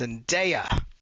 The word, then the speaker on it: Zendaya: You know her name is pronounced Zendaya.